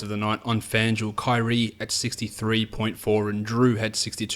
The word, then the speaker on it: Kyrie: On DraftKings, Kyrie, that's how you say it, 67.5.